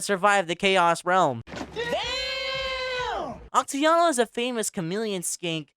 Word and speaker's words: Oxyotl: the trailer was oxyotl, or oxyotl if you know how to pronounce names in Aztec. I was gonna say oxyotl to the entire video because oxyotl sounds kind of weird for me, but yeah, that's how you pronounce him.